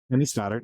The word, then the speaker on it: Kenny Stoddart: Is that how I pronounce? Okay. Kenny Stoddard.